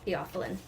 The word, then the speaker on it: Theophylline: The author's note has the pronunciation of the title, so it's Theophylline.